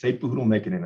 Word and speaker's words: Satepauhoodle-Mikkanen: And then I will have a losing record on my pronunciations. Not a problem. It's Sepuhudal Mikanen, and that's what I'm here for, teamwork.